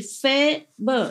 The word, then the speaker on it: Faber: It's like cafe in French. Pronounce it like A in French. And B and is pronounced more or less like like in urgent. Nah? So I say Faber.